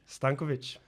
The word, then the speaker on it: Stankovic: And is Stankovic. Stankovic.